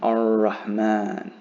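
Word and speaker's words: الرحمن: So if a lam is followed by a letter with a shadda above it, that's the easiest way to understand that you do not pronounce the lam either. You just pronounce the following letter, but hold it for 2 counts.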